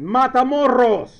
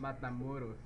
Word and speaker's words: Matamoros: you explain to me how do you pronounce m a t a m o r o s matus with a soft R oh cuz it isn't Double R you only roll Double R exactly no you always